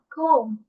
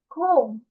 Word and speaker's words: comb: comb, comb, নট বি। বি বলা যাবে না, বিটা উচ্চারণ হবে না, বলতে হবে comb।